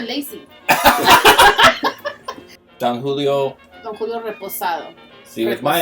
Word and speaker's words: reposado: Don Julio Reposado. See, with my accent, it'd be Raposado. It's because you're trying too much. Raposado. Reposado. There you go. Rapastado. No, Raposado. Reposado.